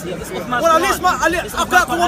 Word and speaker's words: Uthman: We have today, everybody listen, we have Uthman, that's how you pronounce his Quran.